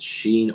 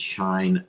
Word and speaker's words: Shein: Is it Sheen or is it Shine? Shein, the most popular fashion brand of 2022.